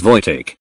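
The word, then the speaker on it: Wojtek: were discussing TL Notes One vek pronounced as VK was a bear who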